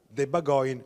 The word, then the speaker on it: Bagòn: di villa torlonia in occasione della festa della debba going malato dovrebbe pronunciarsi più o meno così ovvero la festa fondamentalmente del maiale perché bagoin in dialetto romagnolo significa appunto maiale ci sono